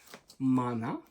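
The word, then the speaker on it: Maná: And the band I'm talking about is Mana. That's how you pronounce it.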